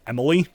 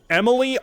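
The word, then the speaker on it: Emile: His real name is Emil, and for some reason, a lot of people pronounce it Emily.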